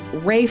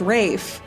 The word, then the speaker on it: Ralph: well his brother is Rafe fine well it's Ralph but it's pronounced Rafe well that's complicated it's